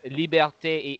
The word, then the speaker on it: liberté: actually I mean it's the way you were pronouncing it kind of sounds like Latin but you know Latin has different ending it's liberté égalité a sorry I just touch it I